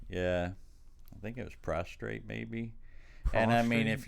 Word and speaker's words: prostate: Prostate. Okay. You know me not saying shit right. I say prostrate, you say prostate. because that's the way it's spelled and said.